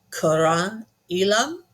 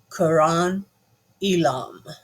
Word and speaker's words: Qairan Elim: This one is Quran Elam, and I apologize if I have mispronounced it, but I did do a little search on it, and I believe that is a correct pronunciation. Quran Elam.